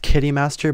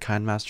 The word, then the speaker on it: KineMaster: Actually, it's pronounced KittyMaster, but I've always liked to pronounce it KineMaster, because, well, that's how it looks like it's spelled.